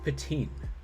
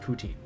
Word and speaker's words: poutine: do do you have patin or to them i would say do you have poutine um and all of them